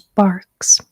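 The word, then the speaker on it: Barq's: Um, it's more of a creamy root beer, whereas Barks, which is spelled um, B A R Qs, it has more of a bite to it, which I I really like personally.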